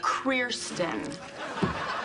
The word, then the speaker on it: Krirsten: Everyone pronounces it wrong. The R is after the I. Krirsten. And before the I. It's Krirsten.